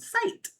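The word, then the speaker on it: scite: Um, there's also AIS like one called site, which is spelled S C I T E, which allows for research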